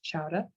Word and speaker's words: chowder: There's also clam chowder, which we're famous for here, which we pronounce chowder, Boston cream pie, and Boston baked beans.